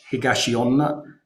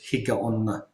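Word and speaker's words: Higaonna: the using the higashi it's the same character just the way you pronounce it uh so uh but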